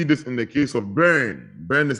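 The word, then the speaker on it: Byrne: you can see this in the case of brain brain is spelled b-y-r-n-e and Company versus Leon Leon l-e-o-n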